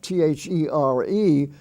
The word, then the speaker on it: there: spelling form you have t-h-e-r-e which is pronounced there like he went over there or w-h-e-r-e which is